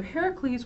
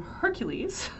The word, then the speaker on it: Heracles: Heracles and niso so Heracles we've heard of this is a very famous hero in America where we like to mispronounce things we call him Hercules but it's Heracles is his name um this is cast